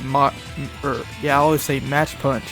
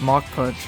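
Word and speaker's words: Mach Punch: Even when I was playing Pokemon Ruby and Sapphire back in the day, I would always say match punch instead of mock punch.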